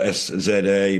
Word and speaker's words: SZA: It's spelled S-Z-A, pronounced SZA.